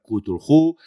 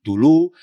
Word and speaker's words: Cthulhu: Es decir, no hay una regla de oro en la cual Tulhu se deba pronunciar Cthulhu o Tulu. No, cada uno que lo pronuncie como crea que se debe pronunciar. En mi caso, yo lo pronuncio Tulhu y perdonadme si algunos